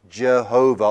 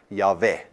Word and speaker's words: Yahweh: era started reading this they thought that pronounce Asian is Jehovah or yahuveh which is why we in many of our songs today we talk about Jehovah but it's actually a wrong pronunciation it is the Hebrew vowels for adorned I and so most scholars agree that the most the the better pronunciation is something like yave but even there they